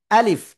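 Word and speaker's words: ألف: দেখেন প্রথমে আ শক্ত হল। এরপরে লিফ। শেষের দিকে নিচের ঠোটের পেট উপরে দুই দাতের আগার সাথে লাগাব। লাগিয়া হালকা বাতাস বের করব।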